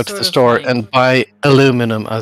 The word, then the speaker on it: aluminum: meant aluminum yes aluminium it's spelled aluminium but i think they misspelled it it's aluminum okay so it's it's it's like solder yeah it's like solder exactly it's spelled one way but americans skip every few letters just because it gets too complicated do you know what